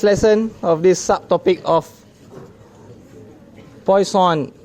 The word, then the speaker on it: Poisson: of this subtopic of Poisson distribution it's not poison that's for sure it's points on a point line it's the French Way okay understand it okay